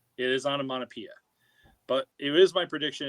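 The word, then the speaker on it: Onomatopoeia: pronounce this am I correct or no it's onamonapia it is onamonapia but it is my prediction it will be the most mispronounced character during breaks I don't know but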